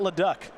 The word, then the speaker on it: Leduc: Leduc is Samuel's last name.